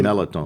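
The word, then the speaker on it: mirliton: it looks like it it's spelled merliton but nobody nobody says that's the melatonin they let the r out completely so uh this squash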